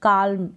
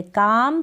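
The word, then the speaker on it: calm: फिर यहाँ पर है टॉक, टॉक का मतलब है बात करना, टॉक पढ़ेंगे, टॉलक, फॉलक, काल्म ऐसे नहीं पढ़ेंगे, एल तीनों में ही साइलेंट है, काम, फॉक, टॉक।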